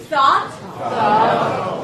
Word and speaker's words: thought: Thought. Again. Good. Make sure to pronounce it as one vowel, thought, and not thought. Okay? It's not two sounds here.